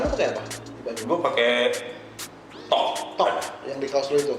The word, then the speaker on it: Thok: Dibacanya tuk apa tok sih? THOK tok ya. Awal juga gue liatnya apa stok ya. Ternyata bukan. Tok ya.